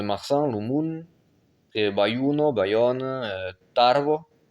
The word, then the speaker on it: Tarbes: Et Bayuno, Bayonne, Tarbes, sans S.